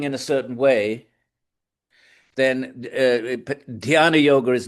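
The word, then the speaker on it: ध्यान: D h y a n a dana.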